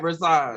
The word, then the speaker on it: Rashawn: roll the R then so I can hear it. Rashawn. No, Rashawn. Take the shut out. It's Son. Rashawn. Yep, you said it right, Rashawn.